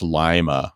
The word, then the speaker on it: Lima: And you see, I said it right. I always said Lima, and then somebody from Ohio was like, no, it's Lima. I was like, oh, like Lima beans, not Lima beans.